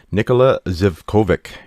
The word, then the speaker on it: Nikola Zivkovic: Today's special guest is Nikola Zivkovic. Did I pronounce that right?